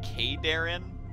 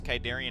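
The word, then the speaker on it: Khaydarin: God I just realized you pronounce it K Darren okay Darren like he just pronounced it and back when there was kaidarian amulet I was totally saying it wrong the whole time and so were all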